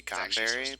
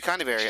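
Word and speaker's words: Conyberry: I feel like it's actually supposed to be Conberry, but it's They put a Y in it. They did. They straight up did. It's Connyberry. That's too funny. No, it's actually supposed to be Connyberry.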